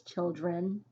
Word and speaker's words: children: This is one of those examples where the E almost sounds like it's making the I. However, it's children. N, not in, children.